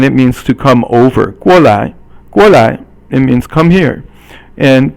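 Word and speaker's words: 过来: The next one is 过来 So 过 is fourth tone, and 来 is 轻声. So you don't really pronounce it as second tone. Normally 来 is second tone, but here 过来 is the 来 is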